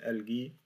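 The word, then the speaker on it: الغيتار: C'est al-guitar, comme en français.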